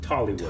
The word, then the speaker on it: Tollywood: I want to say Bollywood, but that's What? not the correct way to say it. Tollywood. Tollywood.